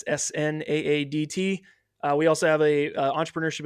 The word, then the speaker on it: Snaadt: It's Snaadt.